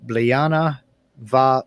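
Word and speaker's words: Bliadhna mhath ùr: think it's cool and it's Liana vah or is how you pronounce it and it simply means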